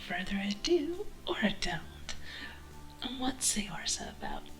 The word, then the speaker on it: Saorsa: And for those who are curious, the Gaelic pronunciation is Saorsa, but considering they stole it from the Irish Saorsa, I'm anglicizing it further.